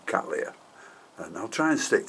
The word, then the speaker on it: Cattleya: it was so my apologies for calling them and cataleya when they should be Kalia and I'll try and